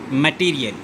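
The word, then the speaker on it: material: How many syllables are there in the word मटीरियल? अब इसे ऐसे पढ़ा जाता है, मैटीरियल। सो इसमें 4 syllables हैं।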